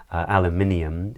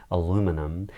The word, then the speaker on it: aluminium: So in Britain we would say aluminium, and in America they would say aluminum.